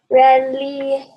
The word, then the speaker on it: religioso: Okay, let's look at the G again. Makes an H sound. Religioso. Very good. Religioso. Make sure that your E is an E, okay?